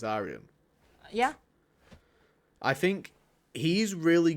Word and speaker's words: Aryan: It's Aryan.